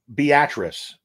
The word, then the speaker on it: Beatrice: it's tough um uh Beatrice is a town in Nebraska spelled like Beatrice but it's the actress or beet rice is how it's basically spelled b-a-t-r-i-c-e but it's it's a Beatrice not Beatrice it's so crazy because I'm